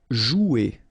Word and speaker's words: jouer: Okay, remember you combine this O and U, you get the sound OU. So joue. Okay, J is pronounced like J. Joue. And then ER here, you combine them at the end.